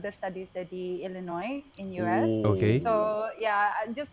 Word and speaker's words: Illinois: B oh elino wow Illinois illino Illinois illino the silent s State Illinois yeah oh